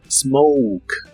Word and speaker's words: smoke: Smoke que significa fumar la o se pronuncia como o u y la e del final es muda Smoke Smoke y usa usaremos